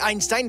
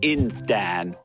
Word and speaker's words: Einstein: This must be what Albert Einstein felt when he first introduced the theory of general relativity. You mean Einstein.